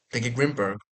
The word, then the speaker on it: Grimbergen: It tastes like a Grimbergen, I would call it.